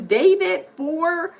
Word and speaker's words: D4vd: That the singer, his name is David it's D4vd or something, the ID or whatever. But it's kind of spelled like David.